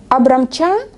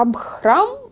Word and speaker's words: Абхрам: Абрамча, оно вот не Абрам, а Абхрам, и не Ха чистое, а оно там с придыханием просто.